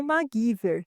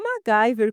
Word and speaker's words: MacGyver: na hora da dublagem, eles pronunciam MacGyver e não MacGyver como seria o correto.